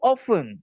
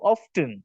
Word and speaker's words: often: how often அல்லது how often, எங்களுக்கு ரெண்டு மாதிரியும் இதை வாசிக்கலாம், how often அல்லது how often. டீய சைலண்டாவும் வாசிக்கலாம், டீய ப்ரொனவுன்ஸ் பண்ணவும் முடியும்.